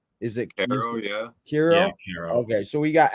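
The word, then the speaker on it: Quero: bro you just said is it oh yeah hero hero okay so we got Edgar KIRO and we got Kai Bush a left-handed starter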